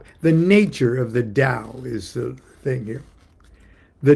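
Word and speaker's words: Tao: The dao is one and the t or day. Dao is spelled t- ao and t or day is spelled t e h.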